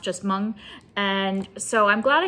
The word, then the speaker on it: Hmong: off of it's pronounced mung and i was adding because there's an h at the beginning of the word i was adding the h sound but it doesn't have the h sound at least not in